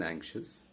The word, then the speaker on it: anxious: Similar is the case with anxious and shus. Shus, there are 2 syllables in anxious. So shus is the ultimate syllable, but we need to stress on the penultimate one. So we stress on and, okay?